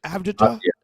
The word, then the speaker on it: Avdija: How do you spell it? It's Avdija?